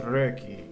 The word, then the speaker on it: Röki: based on scandinavian folklore and yes it is pronounced reiki i am halfway decent with swedish so i